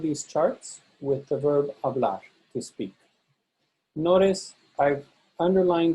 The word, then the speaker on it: hablar: So here I've populated one of these charts with the verb hablar, to speak. Notice I've underlined the stressed syllable. So in the infinitive, the AR ending is stressed. Hablar, not hablar, hablar.